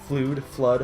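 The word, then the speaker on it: FLUDD: People actually pronounce it Flood. Yeah, I mean, like I think the she character actually says flood. yeah, at the character beginning. flat out says, "My name is Flood. Glad to Listen, meet you."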